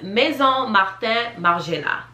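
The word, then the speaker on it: Maison Margiela: my bad i'm back okay so this is pronounced maison marten margina in french is house and that is very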